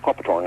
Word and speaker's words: Copthorne: Yeah, near Lingus Hotel, Oh, the Copthorne? Yeah, well, we call it the Copperthorne, actually, is the correct pronunciation.